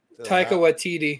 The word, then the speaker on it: Taika Waititi: Taika Waititi.